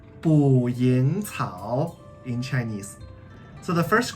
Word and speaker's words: 捕蝇草: Okay, so this guy is called 捕蝇草 in Chinese.